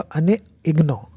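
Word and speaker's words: Annie Ernaux: Literature में जिनको मिला है उनका नाम है एनी अर्नॉक्स। ये एक फ्रेंच लेडी है, ठीक है। वैसे फ्रेंच में इसका प्रोनाउंसिएशन होगा अने इग्नो, क्या।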